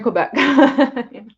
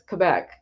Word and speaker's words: Quebec: up there in Quebec I always say I'm saying it wrong it's Quebec I I I we had this discussion on step's channel last night I grew up saying Oregon when it's Oregon I I've grow saying Quebec when it's Quebec it's